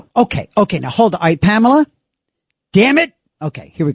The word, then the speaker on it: Pamela: I I always say three syllables because sometimes on the radio or phone, they can't hear my name and they end up calling me or.